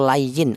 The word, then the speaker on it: lin: Ya, dibaca lin atau lain atau layin artinya itu luna. Cara bacanya dibaca lunak saja. Tawallau ya.